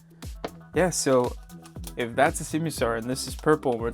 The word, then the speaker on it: Simisear: But for today, let's focus on this Simisear.